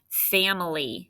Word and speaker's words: family: What makes the sound in the middle? Let's see if you got it. F-A-M for fam. I, it's that I animal, or eh. And then Lee is L-Y.